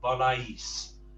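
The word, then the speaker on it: voláis: And the vos, volais. You just need to make sure that a is stressed.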